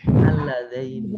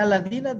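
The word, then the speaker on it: اللذين: Al-Ladaini. Tuh. Iya. Kalau nggak cermat bacanya dibaca Al-Ladina tuh.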